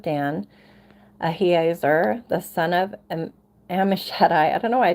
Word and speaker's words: Ammishaddai: Ahiezer, the son of Ammishaddai. I don't know why I trip on that every time. Ammishaddai. I feel like that's right. Because I know like El Shaddai. I know how to pronounce Shaddai.